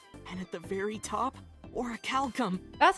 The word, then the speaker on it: orichalcum: There's bronze, silver, gold, platinum, and at the very top, orichalcum. That's how you pronounce So it.